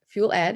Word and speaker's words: FuelED: the founder and partner at fuel ed it's actually how it's pronounced um we are an